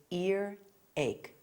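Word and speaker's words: earache: There's no H before ear and there's no H before ache. So, it's ear ache.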